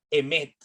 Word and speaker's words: emet: Por lo tanto, la palabra verdad en hebreo se escribe emet, E-M-E-T, verdad, emet.